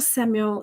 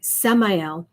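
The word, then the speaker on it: Samael: oneness so yeah archangel samuel samuel uh i say let's say it right samayal is kind of a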